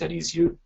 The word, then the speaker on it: Arizio: So say it in 4 parts, meaning the concept of syllable, more energy in the second part, roll the R, but very softly, and the letter O will sound like book.